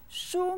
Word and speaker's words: 书: Look at the word 书. What does it mean? 很好. 书 means book. It's said with the first tone.